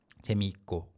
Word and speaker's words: 재미있고: but naturally 재미있고, 있고, the double 시옷 sound is kind of weakened because of the following 고, 재미있고. So it will sound like 재미있고 in fluid pronunciation, 재미있고.